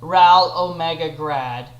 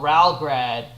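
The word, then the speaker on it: Ral Ω Grad: Again, anyone who wants to debate with me on it, the series is not called Ral Omega Grad. It's called Ralgrad.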